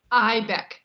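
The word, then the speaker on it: Eibeck: Pamela, is it Ebeck? I want to make sure I'm not mispronouncing. Ibeck, the E is silent.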